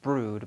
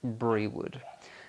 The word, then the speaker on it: Brewood: There's a village hall, but there is another close village called Brood, and it's pronounced Brood, but it's spelled Brewwood, so it looks like Brewood.